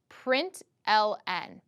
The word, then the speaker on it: println: system dot out dot println and then we pronounce it print 'ln then you have a